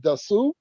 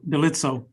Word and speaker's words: Delitso: Dasu. Did I say it wrong? Delitso.